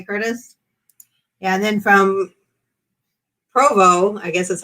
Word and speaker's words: Provo: Yeah, and then from Provo, I guess that's how you say it. I always want to say Parvo. It's P-O-V-O. P-R-O-V-O. I don't think it had an R in it, but maybe it does.